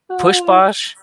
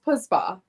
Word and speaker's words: Pusbach: Pushbach? It's Pusbach. Pusbach. Okay, see, Yes. completely wrong.